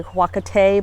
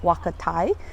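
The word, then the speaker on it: huacatay: heck this is um huakatai i know i'm not saying it right i usually say huakatee but my peruvian friend's mom says wakatai it's called um also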